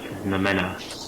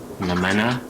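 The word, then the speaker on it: noumena: i'm stuck um so it's pronounced nomena yeah let's refresh ourselves here the art the book is called feigned nomena like a vampire saying and the mena is spelled n-o-u-m-e-n-a it's by nick land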